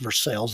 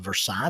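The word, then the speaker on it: Versailles: let tell you what you spell it French but we'll pronounce it American other people have explained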